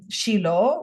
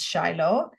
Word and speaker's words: Shiloh: set up the mishan in Shilo which is people pronouncing in English is Shiloh and um they think